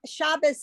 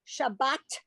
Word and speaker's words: Shabbat: But we say Shabbat Shalom. We don't pronounce it with the S sound.